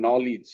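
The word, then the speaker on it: knowledge: নলেজ বলি নাই আমি এখানে খেইটা সাইলেন্ট হয়ে গেছে বলতে হবে নলেজ আমরা নলেজ বলি ভুল বলি নলেজ ঠিক আছে যেমন এখানে খেই এন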